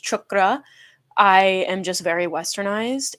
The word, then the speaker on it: chakra: uh root chakra video is i know it's pronounced chakra i am just very westernized and i don't